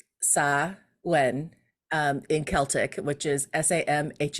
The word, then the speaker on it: Samhain: So you said Samhain.